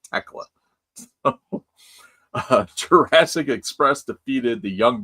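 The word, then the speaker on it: Thekla: I don't know why I keep, because the H is silent. It's Tekla.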